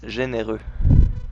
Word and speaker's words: Généreux: It's supposed to be soft G, right? I said hard G by accident.